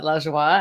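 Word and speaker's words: Lajoie: was like giggling here my last name is Elijah wah my name is Lajja wah and la joie means joy and French you love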